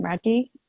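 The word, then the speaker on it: Radtke: Radke.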